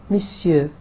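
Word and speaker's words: monsieur: बोंजूर मिस्यू, बोंजूर मिस्यू. अब ये थोड़ा आपको मुश्किल लग रहा है कि जो लिखा हुआ है और जो हम बोल रहे हैं उसमें फ़र्क है.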